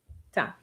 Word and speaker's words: teint: No, the n is part of the sound e i n. Teint.